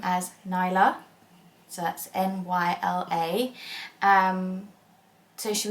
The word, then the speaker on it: Nyla: And basically pronounce her name as Nyla.